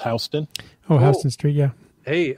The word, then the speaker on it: Houston: So like the word that's spelled like Houston, pronounced Houston.